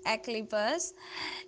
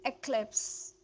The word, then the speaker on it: eclipse: a lot of time people you call it eclipse eclipse please don't say it eclipse is eclipse eclipse the right pronunciation is eclipse eclipse eclipse did you